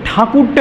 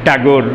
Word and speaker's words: ঠাকুর: এবং তারপর থেকে এরপরেই দ্বারকানাথ ঠাকুরের আগেও আরেকজন ঠাকুর ছিলেন, এখানে এই এই ঠাকুর নামটা চালু হয়ে গেল আর কি, কুশারিতে ঠাকুর হয়ে গেল। আর ঠাকুরটাই ব্রিটিশরা তাদের উচ্চারণগত দুর্বলতার কারণে ট্যাগোর বলেছেন।